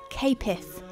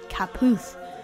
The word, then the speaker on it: Caputh: When we contacted him about using the song, he revealed that it should be pronounced Capith, not Caputh, which is how it's written.